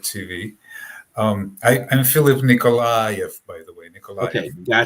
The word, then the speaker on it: Nikolayev: here on pirate tv um i i'm philip nicolai by the way nicole gotcha i need to work on my pronunciations and i don't blame you in fact